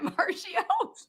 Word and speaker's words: Marchio: You have, is it Marchio?